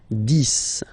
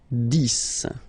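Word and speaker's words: dix: 10, okay, so remember final X here is pronounced like S, 10, 10, okay, then 11, 11,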